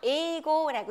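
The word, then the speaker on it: 英語: 자, 영어 하게 되면 에이고라고 읽죠.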